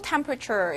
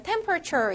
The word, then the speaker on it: temperature: 여기서 보면 temperature 이라는 단어가 있는데, 본래 우리가 이걸 그대로 발음을 해보면 temperature 이렇게 모음이 여러 번 나오잖아. 그럼 발음하기 힘들겠죠. 그래서 약간 발음할 땐 temperature 이라고 뒤에 있는 건 모음만 약간 발음되는 경향이 있다.